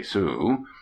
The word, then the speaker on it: Sault: the little town of sault ste marie pronounced abruptly sue we happened on it